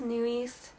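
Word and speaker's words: NU'EST: group called new east i want to pronounce it as new east that's how the koreans pronounce it so i'm gonna say new east and so i was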